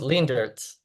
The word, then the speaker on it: Leendertse: name nice okay good it's pretty good it's lean dirs oh so you're that